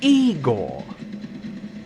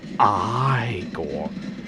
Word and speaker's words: Igor: no it's pronounced frankenstein and you must be eagle and igor who is igor who he thinks is igor he says oh no it's pronounced i gore and he's played by